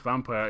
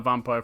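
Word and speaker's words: Vampyr: I assumed it was pronounced vampire. Yeah, I think I was calling it vampire for a bit, but apparently it's vampire. I don't know. It's like the old way of saying vampire.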